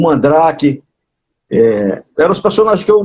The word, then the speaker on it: Mandrake: Mandrake, eu não sabia pronunciar aquele nome Mandrake, que tinha aquele K no meio, eu não sabia qual era o som de K, eu chamava era Mandracaré, mas não, inventava lá os nomes aí.